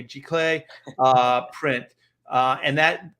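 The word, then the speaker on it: giclée: in the city uh is it glacey is that how you say it the g-class g-clay clay okay it's french okay g-clay uh print uh and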